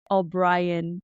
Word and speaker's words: O'Brien: with us if it's possible what is that obrien Ted step what what is that how do you how do you pronounce it orrian my my last name is